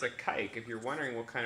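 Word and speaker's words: caique: It's a kike, if you're wondering what kind of bird it is. It's spelled C-A-I-Q-U-E, and this is actually the most playful parrot species that you can get.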